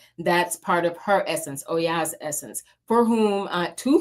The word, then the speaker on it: Oya: So these particular guides um Oya that if you don't know how to pronounce it Oya and Shango that's god of justice and war um as well as the goddess of uh she can bring death.